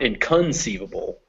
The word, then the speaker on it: inconceivable: root of the word so sieve takes the stress inconceivable not inconceivable not not inconceivable and not in conceivable but inconceivable and as you can hear